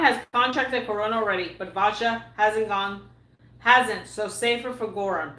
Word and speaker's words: Vajda: And by the way, when you pronounce his name, it's Vajda.